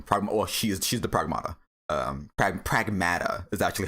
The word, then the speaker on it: Pragmata: Um Prag Well, she's she's the pragmata. Um, Prag Pragmata is actually how it's pronounced, which uh, okay, sure.